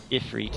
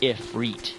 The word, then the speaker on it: Ifrit: But I've heard it on here, they pronounce it Ifrit, like if and reet.